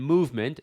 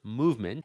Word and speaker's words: MVMT: They call that watch brand Movement, spelled MVMT, pronounced movement, and now they're going to blow it up.